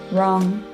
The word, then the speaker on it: wrong: last but not least the silent w the letter w is not pronounced when it comes before the letter r for example rights wrong and rap my last rule